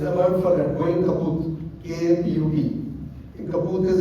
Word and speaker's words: kaput: Am I pronouncing it properly? Kaput? Yeah.